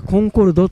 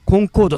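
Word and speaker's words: Concorde: によってあの正しくはコンコードと読むみたいなこと書いてあったりコンコードはあのフランス読みなんですねいです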